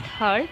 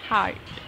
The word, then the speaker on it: heart: It's not hurt, remember, it's heart.